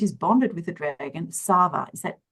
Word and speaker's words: Sava: Against her will, Sage is bonded with the dragon, Sava. Is that correct pronunciation? That's right. Yep. Thank you, Sava.